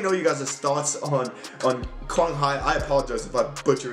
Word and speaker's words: Quang Hải: It is the Nguyễn Quang Hải, I think is how you say it, Quang Hải or Quang Hải, Asian Cup highlights.